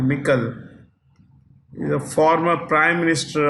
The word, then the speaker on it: Michel: of the European Council, Charles Michel, or some people call Michael. It's actually Michel.